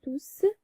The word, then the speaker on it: tous: Et ce S final s'entend à l'oral.